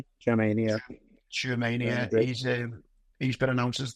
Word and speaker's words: Tchouameni: Tchouameni, yeah.